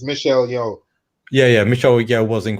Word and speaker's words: Michelle Yeoh: So yeah, I got the name wrong. It's Michelle Yeoh.